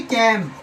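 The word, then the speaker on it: calm: कैम। तो यहां L silent है।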